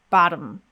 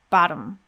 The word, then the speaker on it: bottom: than what you expect this t actually sounds more like a quick d sound and we go straight from that quick d into the m bottom bottom now it's possible that